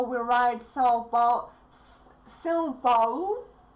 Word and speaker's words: São Paulo: São Paulo. I will pronounce it with Portuguese accent.